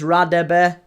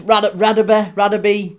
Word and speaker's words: Radebe: Name pronunciation is Radebe, I heard. Lucas, Radaby, however you want to pronounce it.